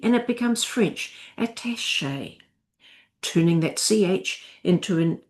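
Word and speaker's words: attaché: So we get attach at an e and it becomes French attache.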